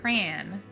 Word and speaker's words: crayon: So the first one is uh you know a coloring crayon, which is not how we say it. We say cran, but how do you say it where you live?